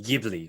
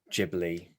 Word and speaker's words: Ghibli: that way and it's definitely jibi and not gibly right so you're you